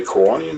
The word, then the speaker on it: Kiwanis: this morning got some how do you say Kanan is that right yeah that's right Hawaiians in